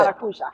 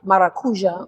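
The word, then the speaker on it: maracujá: until you've had that is it Mar how you pronounce it maruja maracuja which is one fion fruit in Portuguese Portuguese which is also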